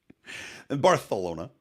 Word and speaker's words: Barcelona: who are over in Barcelona barcalona if you want to say it right barthelona and also Portugal which